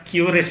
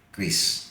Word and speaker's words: QRIS: Versi Indonesianya namanya Kris. Ya, jadi dulu kita ngomongnya QRIS, padahal yang benar itu katanya Kris.